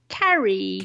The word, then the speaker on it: Carrie: name again Carrie Carrie did you know that your name is also a verb not spelt the way I spell it you know it's still it is phonetically it's the same it's a homophone I'm big fan of